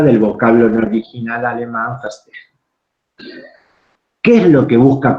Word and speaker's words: verstehen: La B corta en alemán se pronuncia F, generalmente, la H como J, entonces la pronunciación sería verstehen.